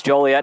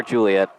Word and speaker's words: Joliet: outside the suburbs and for the longest time i accidentally pronounced it juliet that was a big no-no it's always oregon never or god it's always joliet never juliet second down and log